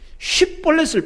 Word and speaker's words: 쉽볼렛: 쉬, SH 발음. 쉽볼렛을 발음해보라고 하는 거예요. 근데 이 에브라임 사람들은 쉬 발음이 안 돼, 이게. SH 발음이 안 돼. 쉽볼렛 이런 거예요. 쉽볼렛. 쉽볼렛이라고 해야 되는데.